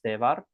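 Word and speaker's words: તહેવાર: Um so, Gujarat ma in Gujarat tevaro are festivals. So, one festival in the singular is tevar. Ta he var. We pronounce it tevar.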